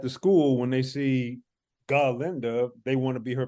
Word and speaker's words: Galinda: her name bougie as Galinda. Oh, Galinda. You have to emphasize the ga. You have to emphasize the ga. And of course, everyone at the school, when they see Galinda, they want to be